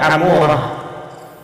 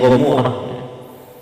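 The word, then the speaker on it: عمورة: Kemudian ada Amorah. Ya, ada yang bacanya Gomorrah. Sodom dan Gomorrah.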